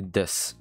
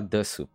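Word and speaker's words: です: Mais quand on va parler, c'est des. Voilà. C'est pas desu, c'est des. Mais on l'écrit comme ça, avec le sou. Mais on va pas le prononcer sous.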